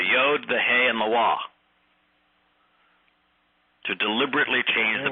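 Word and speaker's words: Waw: with rabbinical types, and you say that the Wah is pronounced as an O, they say no, it's a V. I say no, it's not. Except there is no V. There is no V in Hebrew.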